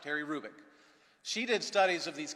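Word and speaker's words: Hrubec: H-R-U-B-E-C, Terry Hrubik. The H is not pronounced, Terry Hrubik.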